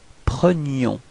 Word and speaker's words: prenions: So you can see that the only way to make the difference between présent and imparfait, it's this I, so the y sound.